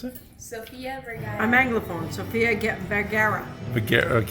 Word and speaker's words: Sofia Vergara: How do you pronounce it? Sofia Vergara. I'm Anglophone. Sofia Vergara. Okay, Vigado.